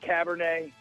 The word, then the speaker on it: Cabernet: Aaron Murray calls the running back Zach Cabernet. So that's how you pronounce it. So yeah. Whoa, I'm rolling with Cabernet.